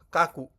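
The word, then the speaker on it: 描く: Neko oo kaku. Nah, ini kanji ini bacanya ka ya.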